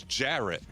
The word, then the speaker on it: Jarrett: Ferret does rhyme with Jarrett, but my name is Jarrett.